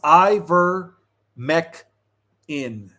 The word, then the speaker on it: Ivermectin: So, it's pronounced Iver- mec in. Okay, thank you, King. Iver- mec in.